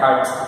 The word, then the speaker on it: hertz: It is pronounced as hertz.